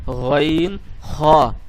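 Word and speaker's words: غ: 3 নম্বরে যেটি আছে সেটিকে বলা হয়েছে হলকের শেষ ভাগ হইতে এটিকে আপনাকে উচ্চারণ করতে হবে, অর্থাৎ গইন খ, গইন খ।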